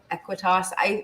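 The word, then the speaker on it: Aequitas: Aquitas. I know it's spelled. I think spelling it, I always think After Effects. So it's AE, and then it's the word quit, and then AS. Aquitas. Equitas.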